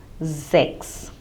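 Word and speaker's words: sechs: So whenever the letter S occurs at the beginning of a German word, like also in Z, S-I-E, it is in the beginning, hence it takes the pronunciation of Z. So the same way it would be Zex, and in a similar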